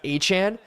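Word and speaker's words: Etienne: is actually pronounced as Achan. He actually asked people to name like he's the only Achan. Yeah, it's Travis Achan. It's actually the phonetic pronunciation of the name, actually.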